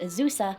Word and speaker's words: Azusa: by this brand which appears to be called Azusa but according to its brand rep is pronounced isusa and get in the